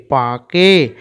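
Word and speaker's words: পাঁকে: পয় চন্দ্রবিন্দু আকার পা, দেখো এখানে উচ্চারণটা আমরা একটু নাকের মাধ্যমে করবো। হ্যাঁ, পয় চন্দ্রবিন্দু আকার পা, কয়কার কে, পাকে, চয়কার চে, 29 তয়কার এ, চেয়ে, থয় আকার থা, কয়কার কে, থাকে, ব ক, বক।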